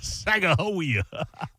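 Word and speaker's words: Sacagawea: Hey, I seen the original statue of Saka Hawia in underneath the Capitol building in DC about 12 stories below ground. And there's no J. It's Saka.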